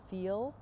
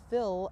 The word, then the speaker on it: fill: will come across as give me that feel or feel they don't want to be they don't want to be felt it's that they want the fill icing so eyes and EES